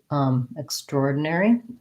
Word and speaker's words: extraordinary: of a word where it looks like the words extra and ordinary, but we don't say it like extraordinary. We tend to say it like extraordinary, where we instead of extraordinary, we only have one syllable for these two. So extraordinary, extraordinary. And that's where the stress lies, extraordinary, on the or.